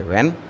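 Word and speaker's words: when: डब्लू एच ई एन इसमें एच फिर silent हो जाएगा तो इसको पढ़ेंगे व्हेन क्या पढ़ेंगे व्हेन अब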